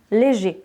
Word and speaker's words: léger: Donc au masculin, léger, on ne prononce pas le R.